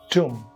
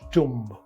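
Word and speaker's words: tomb: two and aim two B is absent so t o m b is two not tum these are the areas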